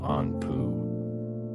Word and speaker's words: Anpu: His name in hieroglyphics is pronounced closer to Anpu.